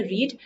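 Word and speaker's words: read: was being रेड देखिए रीड के case में तीनों फॉर्म्स में स्पेलिंग सेम होती है लेकिन प्रोनंसिएशन डिफरेंट हो जाती है फर्स्ट फम की होती है रीड सेकंड और थर्ड में हो जाएगा रेड रेड तो यहां पर इसको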